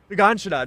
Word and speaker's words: Shiganshina: Shigeshina? Is that how we say it? I'm saying Shiganshina. Or Okay, Shiganshina. you know what? Shiganshina, that's how you say it.